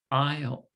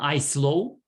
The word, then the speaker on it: aisle: It's the it's pronounced aisle. Aisle. I. Yes, aisle. So you pronounce the L, aisle, aisle. But it's the you're right, it's the S we do not pronounce. It's not I slow, it's aisle.